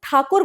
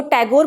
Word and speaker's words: ठाकुर: करते थे पर क्योंकि जो ब्रिटिशर्स थे वो ठाकुर प्रोनाउंस नहीं कर पाते थे वो टैगोर बोलने लगे इस वजह से ही